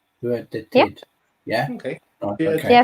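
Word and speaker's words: Skördetid: Well, Skådetid was the first way I pronounced it as well. Yeah. And then I think with those sessions that you were talking about, those training sessions were Hurdetid. Yeah, Might be closer.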